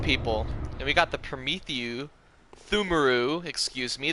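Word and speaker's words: Pthumeru: And we got the Thumaru, excuse me, the P is silent.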